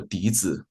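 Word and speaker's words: dizi: The the most standard type is called the D. It's spelled D I Z I D.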